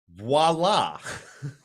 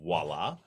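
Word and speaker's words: voilà: I wouldn't have got it either, but Yeah, you would have said Viola, wouldn't you? I don't know what I would have said. Even though clearly phonetically it does not say there's an O before the I, but my brain said Viola.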